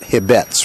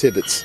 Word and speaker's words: Hibbetts: base every day and it is hibbetts not hibettes right correct it is hibbets if i don't ask